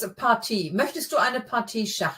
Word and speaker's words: Partie: Yeah, not that obvious, but yeah, the emphasis is more on the second syllable. So möchtest du eine Partie Schach spielen? Partie. Yeah, it's not a party.